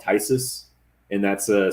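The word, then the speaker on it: Phthisis: in denver i play in a band called tysus and that's a spelled p-h-t-h-i-s-i-s some people don't know how to like pronounce that band but that's like a more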